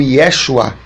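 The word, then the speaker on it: ישוע: discípulos e pelas pessoas o seu nome no original é Yeshua ou yahushua né a bandeira de pronunciar pode ser um pouco diferente mas é mais ou menos assim e Yeshua ou Yeshua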